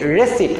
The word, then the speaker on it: receipt: বাট ইটস নট রিসিভ এখানে পি এর উচ্চারণটা হবে না ইটস সিম্পলি রেসিপ্ট নট রি রেসিপ্ট পি